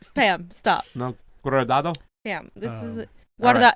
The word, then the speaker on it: Guardado: This is Guardado.